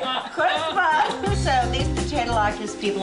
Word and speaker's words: chutzpah: Chutzpah. See, look at that. I know. He's going to grow up to be a nice Jewish boy. Because he can say chutzpah.